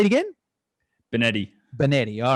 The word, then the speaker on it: Benetti: i pronounce that right bennetty uh it's a pass benedi but yeah you're pretty good